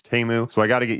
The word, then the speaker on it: Temu: on the site teu I guess I've been pronouncing it teu but after after seeing the Super Bowl commercials it's TAMU so I got to get used to calling